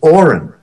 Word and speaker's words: orin: It's a purposely low vibrating sound. It's orin.